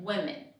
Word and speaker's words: women: Okay, and you actually pronounce it differently. Woman, women.